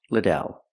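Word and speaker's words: Lidell: I answer, it's pronounced Liddell.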